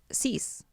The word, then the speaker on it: Seuss: yeah so well his mom's maiden name is Seuss hmm it's actually pronounced seize seize see we don't even care do we